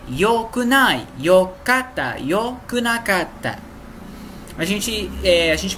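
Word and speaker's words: よくない: O outro seria ikunai, né? Mas não, no japonês a gente fala yokunai. Yokunai. Então a escrita é a mesma, só a pronúncia que não, né?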